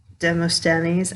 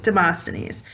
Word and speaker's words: Demosthenes: of lock and dim demostanies i never demosthenes i never pronounced that correctly demosthenes so they basically are